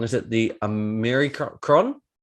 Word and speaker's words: Omicron: Now it's forgive me if I pronounce this wrong. Is it the Omicron? Omicron.